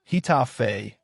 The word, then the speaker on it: Getafe: Think of Getafe, pronounce Getafe, in 2007.